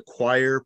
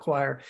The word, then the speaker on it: Quoir: a little bit about choir so yeah I'd say real quick choir is it's not it's pronounced choir it's spelled q-u-o-i-r right um just to